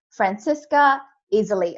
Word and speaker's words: Franziska Iseli: me today i have yet another unstoppable leader francesca easily i better pronounce that correctly i love your name by